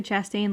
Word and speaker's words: Chastain: Chastain.